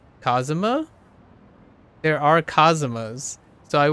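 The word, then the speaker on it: Kazama: kittyu's last name like kitties family name is cosuma but it's spelled k-a-z-a-m-a but if I read that like if I read that spelling out it would sound like Cosimo like in uh English or like English way I guess it was a little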